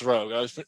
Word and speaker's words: Roeg: How do you pronounce his name? Nicholas Reg. Rogue, yeah. Nicholas Roeg.